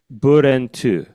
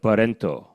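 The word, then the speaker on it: 브렌트: Brent in Korean is actually three syllables. It's Okay. burentu, Okay.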